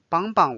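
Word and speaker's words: 帮帮: And if you just repeat 帮帮 the second 帮 will be read a little bit lighter. So it's like no tone. It's neutral again. So 帮帮我帮帮我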